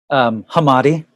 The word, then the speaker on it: Hamade: Oh yeah, I realize I don't want to say your last name wrong now. Can I say it? Yeah, you say it. Hamade.